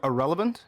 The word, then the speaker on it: Ahrelevant: no um i am irrelevant all right um the actual word irrelevant was taken and i like it so it's pronounced exactly like the word irrelevant like somebody is a nobody and yeah i'm a